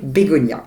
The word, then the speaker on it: Begoña: Comme la fleur, parce que sur le N, il y a ce fameux tilde, donc la prononciation, cette petite vague qui fait prononcer Bégonia.